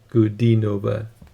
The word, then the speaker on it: Ankudinova: uh know that the it's uh good d nova the d sound there so yeah i'm reading